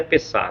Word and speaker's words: Pessah: Páscoa significa, Páscoa em hebraico é Pessah. Nessa pronúncia aí não está tão correta, mas é Pessah.